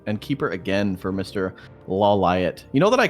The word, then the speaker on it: Lawliet: Oh, but I heard it's actually pronounced LawLiet on the show, so I just never watched the show.